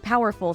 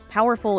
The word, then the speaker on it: powerful: we say that word we put all the strength on the initial pow because that gives the word its weight oh and one more